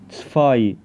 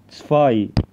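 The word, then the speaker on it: zwei: عندنا حرف التسيت ده بيتنطق تا كانه تي اس كده، وبعدين الحرف ده بيتنطق زي الفي، وبعدين الحرفين دول الاي اي لسه قايل عليهم من شويه بيتنطقوا اي، يبقى الكلمه على بعضها بتنطق تسفاي تسفاي.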